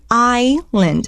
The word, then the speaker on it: island: 那个 ISLAND island，它那个 IS 就念 island.